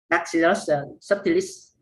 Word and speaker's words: Bacillus subtilis: I forgot the name, Bacillus subtilis. Do I pronounce it right? Yeah, so in the States they call it labs or lactobacillus. Yep, you pronounced it right.